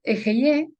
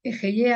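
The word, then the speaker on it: אהיה: Este nombre, Ejeye, Aser Ejeye, también representa el hálito divino, el ruaj, el espíritu de vida, el espíritu supremo. De hecho, se pronuncia como una exhalación del aliento.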